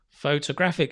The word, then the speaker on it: photographic: a photographic memory photographic and the stress changes again just to confuse you we do this deliberately in english just to confuse the whole world why do they change the stress photo again like photogenic photographic so it's faux to grab make it longer photographic right altogether photographic memory good i have